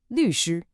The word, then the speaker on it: 律师: The lawyer, 律师, a fourth tone and a first tone.